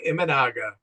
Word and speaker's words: Imanaga: And you'll have to help me with the pronunciation. Shota Imanaga.